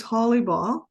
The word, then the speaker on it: Hollibaugh: This is Holly Ball, and I'll spell it for you in case you're not familiar with it.